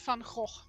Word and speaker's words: Van Gogh: I would pronounce it as Vincent van Gogh.